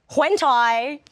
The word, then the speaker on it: hentai: But then I watched hentai. What's the name? How do you spell that?